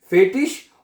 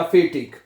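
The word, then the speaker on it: fertig: आए ना आखिर में, उसको शीन की आवाज में भी पढ़ा जाता है और गे की आवाज में पढ़ सकते हैं। फेटिश और फेटिक, दोनों तरह से प्रोनाउंसिएशन सही है इसकी, ठीक है?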